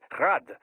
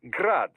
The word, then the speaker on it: Grad: Technically, the Eugi's name is pronounced Grad the Ukrainian way, but most in the business pronounce it as Grad Russian style.